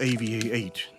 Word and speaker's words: AVI-8: Ava brand It is to bring back the romance of that era Actually he will be called AVI-8 In fact, AV 8 is the English pronunciation of "Aviate" It's basically flight.